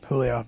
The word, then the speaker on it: Giulio: I like dropping a hard G sometimes. But it's pronounced, it's Julio.